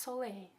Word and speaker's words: Sole: I've been saying sol for the longest time, and then I found out it's actually pronounced Soleil from the Latin sol, which means sun.